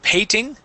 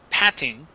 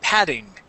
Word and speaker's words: patting: uh this word here instead of saying pting okay it is Pat patting or we can switch those double T's to a D sound saying padding padding p p okay good